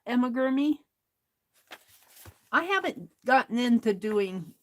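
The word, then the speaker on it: amigurumi: here's a toy elephant little Emma gurmy is how you pronounce that Emma germi I haven't gotten into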